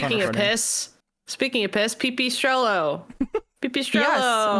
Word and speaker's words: Pipistrello: Pipistrello. Yes, which Backstage Pass did say that is the pronunciation according to Google, Pipistrello.